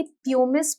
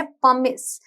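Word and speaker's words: pumice: इसके स्पेलिंग जो है उसे पढ़ के लगेगा कि प्यूमिस बोलते होंगे, बट Wow. प्रोनाउंसिएशन है पमिस, सो इट्स पमिस स्टोन।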